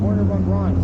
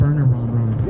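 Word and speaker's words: Wernher von Braun: His name is Werner von Braun. Werner von Braun is German. You don't pronounce the W. Von Braun. Werner von Braun.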